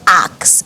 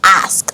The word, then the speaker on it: ask: would like to act it is not ax it is ask so the s comes before the k and now this next